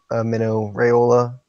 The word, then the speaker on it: Raiola: Like we were saying, like Mino Raiola, so I say it. Mino Raiola, I think is how you pronounce it.